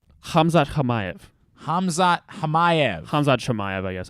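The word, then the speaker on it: Khamzat Chimaev: pronounce it's hamza hamayev hamzat hamayev hamzad yes i think everyone pronounces the ch hamza chimayev bingo let's make sure we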